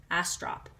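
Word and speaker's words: Astrop: Caroline Smith and John a strop I often print mispronounce his name last name but it's a strop so again this is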